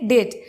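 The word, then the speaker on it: debt: is unable to পে ডেট ডেট মানে কি ডেট মানে ঋণ ওকে এখানে টি এর উচ্চারণটা কিন্তু হয় না এখানে কিন্তু বি এর উচ্চারণটা অমিট তাহলে ডেট মানে হচ্ছে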